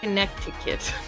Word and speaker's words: Connecticut: Connecticut.